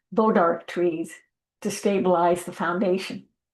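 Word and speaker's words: bois d'arc: Another innovation in the Fanny County courthouse design was the use of what I think is pronounced bodark trees to stabilize the foundation.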